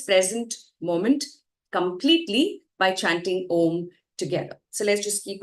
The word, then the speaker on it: Om: You inhale, and then as you exhale, you chant Om with the 3 syllables A, U, Ma. And if you're able to feel the vibrations as you say Ma, that's when you know you're doing it right.